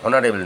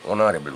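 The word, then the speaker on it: honorable: এখানে হনারেবল নয়, কিন্তু অনারেবল উচ্চারণটা হবে, যার জন্যে এইচ কনসোনেন্ট থাকা সত্ত্বেও অ্যানটা হচ্ছে।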